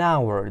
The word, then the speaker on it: hour: H is not pronounced an hour.